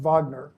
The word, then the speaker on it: Wagner: He managed to sign a Europewide famous soprano by the name of Johanna Vagner, spelled Wagner but pronounced Vagner.